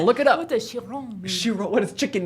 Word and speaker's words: Chiron: Chiron. Chiron. Good. That was Thank you. good pronunciation.